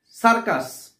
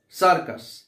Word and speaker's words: circus: সার্কাস, CIRCUS। এইভাবে আমরা যদি বাচ্চাদেরকে আমরা বোঝাই যে সি এর পরে ই অথবা আই অথবা ওয়াই থাকলে উচ্চারণ হবে, সি এর উচ্চারণ হবে স, আর না থাকলে উচ্চারণ